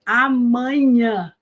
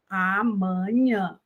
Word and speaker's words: amanhã: Então, nós vamos dizer amanhã, amanhã. Veja que o man também é nasal, porque ele está entre duas consoantes nasais, que é o M e o N.